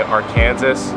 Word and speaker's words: Arkansas: South first of all our name is pronounced weird all my friends know if they say Arkansas or some variation of